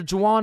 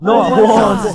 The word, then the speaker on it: Juan: That's just how it's pronounced. Jan, is there Jawan in the room? It's Juan. Juan.